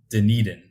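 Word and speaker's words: Denin: adequate playing time in denan I always like to repeat the fact that it is pronounced denan for those listening denan interesting I would not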